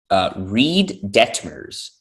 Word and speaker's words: Detmers: Reed Detmers. There you go. I think I probably butchered it.